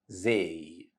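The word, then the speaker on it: زاي: Arabic alphabet is letter z here Z it's an easy letter because it has equivalent sound in English which is letter Z same letter z in the English word zoo let's see how to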